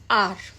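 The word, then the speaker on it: hour: For example आर में एच is silent and we pronouns आर.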